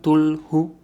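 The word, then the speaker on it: Cthulhu: Tulu, que se escribe C-T-H-U-L-H-U, Tulu, es una entidad cósmica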